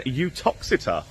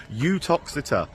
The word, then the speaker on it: Uttoxeter: today uh I mean utox uh that is how you say it by the way con a popular belief with a you feel UT toxit is the way it says lovely lovely